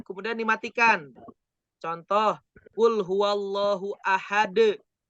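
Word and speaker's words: أحد: Contoh, kul huwallahu ahad. Nah, tulisannya ahadun. Dibacanya dimatiin. Ahad.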